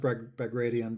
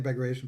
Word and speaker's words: Bagration: allies of bagration um i know it's pronounced by gradient but i just can't get my head around it i've been saying decoration for so long i'm just going with it but that's supposed to